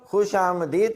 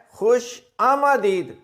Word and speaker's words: خوش آمدید: نہ ہوا۔ خوش آمدید، کچھ لوگ خوش آمدید کہتے ہیں اور اکثر لوگ خوش آمدید کہتے ہیں، یہ دونوں ہی تلفظ غلط ہیں۔ اس کا درست جو تلفظ ہے وہ ہے خوش آمدید۔ یہ جو میم ہے اس کے اوپر زبر ہے، یہ دیکھیں، یہ آمدید، اس کو آپ میم الف ما کر کے اگر پڑھیں گے تو درست تلفظ ادا ہوگا، خوش آمدید۔ اگلا لفظ دیکھیں، یہ